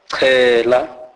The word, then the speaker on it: chela: CH is pronounced as chi. Chi. This is the C sound aspirated, e.g. chela, chela, which means sprinkle with water.